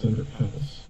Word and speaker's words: Sunderhaus: It's spelled Sunderhaus because it's German, but it's pronounced Sunderhaus, as in the house you live in.